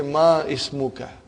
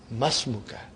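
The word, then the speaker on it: ما اسمك: It will be incorrect to say ma ismuka. You should say masmuka. Because hamzatul wasal. When the hamzatul wasal comes in the beginning of a sentence, you pronounce it. If there is something in front of hamzatul wasal, then it is assimilated.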